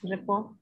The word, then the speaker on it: rapport: when people try so hard to build a rapport am i pronouncing it correctly yes report okay so when people try so hard then